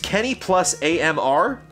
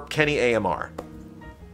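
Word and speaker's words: Kenny+AMR: Kenny Montenegro, pronounced Kenny plus AMR. Kenny Montenegro, but it's pronounced Kenny, the plus sign, A period, M period, R period. Kenny plus AMR, or Kenny AMR.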